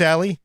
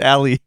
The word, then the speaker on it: Ally: Asus Ally versus Steam Deck. You just said Ali. What the hell is it? It's the ally.